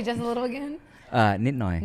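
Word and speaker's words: นิดหน่อย: Nitnoy. Ninoy.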